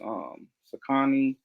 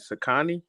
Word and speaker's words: Saucony: You pronounce it Sakani? Saucony, however you say. I, Every episode I talk about, I always say it the opposite I way. say it's Saucony. I've been saying that ever since I was a kid.